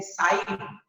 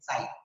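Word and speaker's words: ψ: Okay, और उसको हम लोग बोलते हैं साइन, PSI, साइन, P silent है, साइन।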